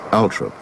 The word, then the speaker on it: Althorp: Even though she had preferred bright lights and big cities, the rural setting of Althorpe, sometimes pronounced Althorpe by the toffs, was thought most appropriate for Diana's last resting place.